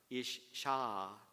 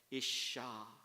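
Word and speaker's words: אִשָּׁה: 예, 그리고 그 여자는 isha. 같이 해주시죠. isha. ah가 붙습니다. 혹은 h가 붙는데 그냥 발음 편의상 a가 더 들어가는 거예요. isha.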